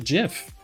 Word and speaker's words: GIF: graphics not graphics but if you want a giraffic interchange format then you gotta pronounce it Jif I even have a